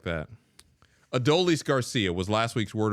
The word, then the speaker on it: Adolis: adise adelise Garcia who's adelise Garcia a painter it's adolis Garcia yeah you I know come on ad leis Garcia it's embarrassing it brings